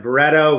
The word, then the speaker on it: Vareto: is katorikova who started vareto rhymes with pareto not dorito which is enterprise software